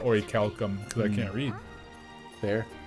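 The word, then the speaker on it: orichalcum: just the name's familiar i always pronounce wrong i say a bunch of final fantasies i thought it was always already callum but ori calcum because i can't read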